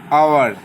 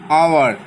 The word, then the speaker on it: hour: These two words say honest, hour. Okay, first H is silent and the pronunciation is honest, not honest. Okay, so we will not pronounce H. Okay, instead of H we will start with O, hour, honest, and we will